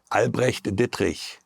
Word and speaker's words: Albrecht Dittrich: I hate it pronouncing is Albrecht Dittrich.